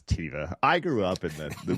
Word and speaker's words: Teva: I say Teva. How do you say Teva? I know some people say Teva. Yeah, it's not Teva, it's Teva.